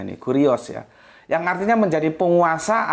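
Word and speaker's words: κύριος: di Aat itu ada kata Kus ya Apa bacanya ini kurios ya yang artinya menjadi penguasa atau menguas ya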